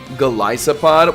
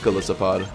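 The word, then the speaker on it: Golisopod: Galisopod. Well, okay. Yes, it is based off of an it is based off an isopod, but I'm pretty sure the official uh pron pronunciation is galissopod.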